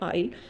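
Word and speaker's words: aisle: Next है आइल। आइल है इसका pronunciation, narrow long space between the two rows of the seat.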